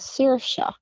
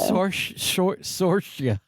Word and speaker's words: Saoirse: Yeah, like the actress. You didn't say it right, but let me hear you do it again. Saoirse. It's so funny that people can't say it. Saoirse. Saoirse. Okay. It's an Irish thing.